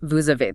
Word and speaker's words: vous avez: Same for vous avez, you have, which becomes vous avez.